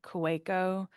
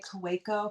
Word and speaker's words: Kaweco: And when I bought my Kueko, or is that how you pronounce it? Somebody corrected me once and now I got embarrassed. Yeah, when I was at the stationery store, I think they did say Kaweco because I was Okay.